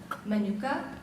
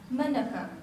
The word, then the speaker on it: Manuka: Manuka has 2 correct pronunciations. Manuka, Manuka.